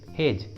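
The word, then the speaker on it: hedge: और एग्जाम्पल देखिए हेज, हेज, इसमें भी डी और जी एक साथ है तो डी को प्रोनाउंस नहीं करेंगे, डी साइलेंट होगा, इसलिए सही उच्चारण होगा हेज, हेज।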